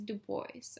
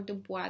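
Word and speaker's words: Du Bois: the other neglected founder is Dubois or Dubois depending on how you pronounce it he's the first african-american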